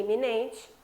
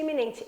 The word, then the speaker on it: iminente: A escrita é diferente, eminente e iminente e a pronúncia diferente. Eminente e iminente. É claro que um você fala e e você fala i.